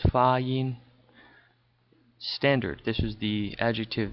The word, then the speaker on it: 发音: Okay, pronunciation, 发音, these are two first tones, 发音.